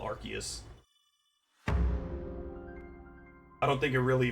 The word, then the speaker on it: Arceus: Also, for the longest time I called him ar I pronounced it arus, but now I just call it archus.